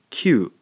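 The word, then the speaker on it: きゅ: When we blend these two syllables together, we end up with kyu.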